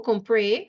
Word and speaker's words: compré: Compró, no, compré, because it's I bought. Un vestido. I'll check the best. Accent on the E in compré, right?